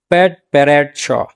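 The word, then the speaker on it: padparadscha: का वर्ल्ड है और हमारे लोग इसको पटपराचा आम लैंग्वेज में मतलब आम प्रोनाउंसिएशन में पटपराचा बोल रहे होते हैं। यह असल में प्रोनाउंसिएशन होता है पैट पैरेट श।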